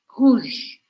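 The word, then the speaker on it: rouge: para quebrar esse aqui novamente a letra e do final da palavra não é pronunciada por isso eu vou terminar o som no j ruj ruj e assim como na palavra C a letra O com u vira u esquece do o e só fala u em português aqui vai acontecer a mesma coisa ru ru essas três cores primeiras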